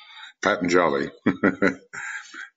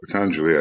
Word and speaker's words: Patanjali: Patanjali sounds like a comic team, but Patanjali, I think, is the maybe a more dignified way of pronouncing it.